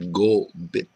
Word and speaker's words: Kopit: lodes fracking show and git in mcma means beaver and pronounced gbit and uh I I